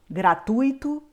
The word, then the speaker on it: gratuito: é a mais forte nós temos agora outras palavras que são palavras paroxítonas ou seja a penúltima sílaba é a mais forte avaro Ciclope filantropo fortuito assim como gratuito intuito ibero recorde rubrika